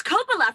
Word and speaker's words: Coppola: i'm drinking just just wine how do i pronounce that oh that's coppola francis ford coppola's wine wow costco really yeah